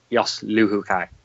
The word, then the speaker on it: Luhukai: Lehukai? Yeah, it's a silent H essentially. So yeah, Jos Luhukai. That's how I say it anyway.